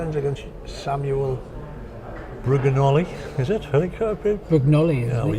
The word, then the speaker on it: Brugnoli: Adam Fuller, 5-2 up after 4 ends against Samuel Brugnoli, is it? Brugnoli, yeah, well, you'll have to pronounce. I'll just point at you when I'm going Samuel. Brugnoli.